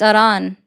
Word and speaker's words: Iran: him because of the effort in Iran. So that means that I'm just encouraging you to go fight alongside them because instead of sending someone else's Say Iran again? Say Iran, Iran again? it's Iran.